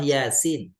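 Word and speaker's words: Yā Sīn: informasi tentang suratnya surat Yasin bahasa Arabnya huruf yang terputus-putus Jadi dibacanya nama hurufnya bukan biasa tapi Yasin nama huruf ya ini adalah surat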